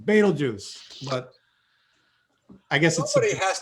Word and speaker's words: Betelgeuse: goose i've heard this is probably the most mispronounced star name so it's betel juice or beetlejuice betelgeuse but i guess somebody has to know the